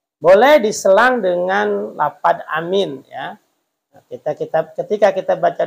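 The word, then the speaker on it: آمين: itu mad badal dua panjangnya Amin itu panjangnya segitu jangan amin ya nanti takutnya berubah arti pendek semua Amin itu bisa artinya aman Amin a-nya pendek minnya panjang Amin Itu Amanah terpercaya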